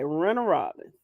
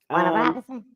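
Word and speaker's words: Warner Robins: You are from Middle Georgia because you said it right. Renner Robbins is gonna lose Friday. Robinson?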